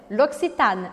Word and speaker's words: L'Occitane: A sílaba forte aqui é o A, L'Occitane, L'Occitane. Eu pronuncio o N e marco esse N.